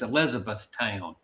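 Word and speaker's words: Elizabethtown: They call it E Town, but the full pronunciation is Elizabeth Town.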